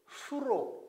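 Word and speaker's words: 宿: 이것이 잘 수 잘숙인데 별자리라고 이야기할 때는 수로 발행됩니다 근데 이것을 천자문을 해설해 놓은 책마다 쑥 수 이렇게 발음하고 있는데 이때는 진수 10장이다 할 때는 수로 있는 것이 바르다라고 저는 생각을 합니다 그래서 별자리가 별들이 잠을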